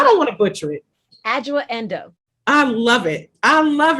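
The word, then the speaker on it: Adjoa Andoh: Now pronounce the actress's name for me, because I don't want to butcher it. Adjoa Endo.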